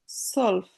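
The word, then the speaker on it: zwölf: এটা সেন হবে সেন সলফ সলফ সেড সেডের পরে যদি ভে থাকে ওটা আবার উচ্চারণটা হয় না এজন্য সলফ তাহলে নখাইন মাল আমি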